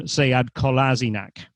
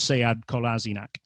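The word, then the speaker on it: Sead Kolašinac: the one thing he really hates is when people call him sayad kolasinac so he goes to arsenal and the first thing i see is a little piece on the club website with him saying that his name is seyad kolasinac so with something like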